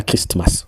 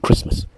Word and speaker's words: Christmas: Même quand on prononce Christmas, on dit pas Christmas, on dit Christmas qui veut dire Noël.